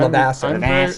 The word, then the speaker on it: Levasseur: We don't, we people who are part French Canadian and French Canadian myself, we don't actually pronounce the names like they're French, except if you're Glenn Ouellette. So I just call him Levasseur.